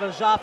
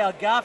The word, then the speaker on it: El Ghaffari: the experience is definitely in the hands of a jaf or should I say AG GAF because he got a bit upset of me yesterday that I said a jaf it's actually pronounced a GAF Al gafi I think yeah well you can tell that